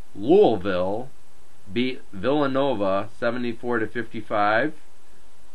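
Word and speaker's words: Louisville: well first off uh Louis beat um I'm sorry I'm going to say it right louville beat Villanova 74 to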